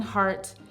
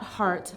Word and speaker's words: Hart: my name is Hart and it's not heart like the muscle it's h a r t as in as in